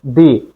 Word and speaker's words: the: বাউয়েলের আগে উচ্চারণ করব দি বাউলের আগে উচ্চারণ করব দি আবার বলি কনসোনেন্টের আগে উচ্চারণ করব দা বাউলের আগে উচ্চারণ করব